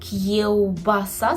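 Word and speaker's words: kiełbasa: - це кі вбаса кевбаса Зверніть увагу на вимову губного звука в кевбаса шинка так і буде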